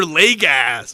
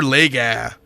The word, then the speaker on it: Legas: like that where he he pronounced his name wrong because he you know he hadn't gotten that far in the pronunciation guide Cooper Lega or something like that but you know it's Lega um ultimately in that